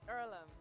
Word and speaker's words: Earlham: what opportunity can do is it ireland is it pronounced earlham it's earlham and it's a place for